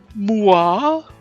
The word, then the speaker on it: moi: Moi? Moi, pronounced moi, is the French word for me.